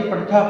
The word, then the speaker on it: पठथ: है, एक मात्रा, पठसि, पठथः, पठथ, कुछ लोग उसको बोलते हैं पठत, पठसी, पठथा, पठत, पठत नहीं है, पठथ है, पठथ, क्योंकि ये थ पूरा है, आधा नहीं है।